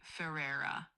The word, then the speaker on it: Ferrer: You'd say it like Barbie Ferrer. The Ferrer part is kind of like Ferrer with a R.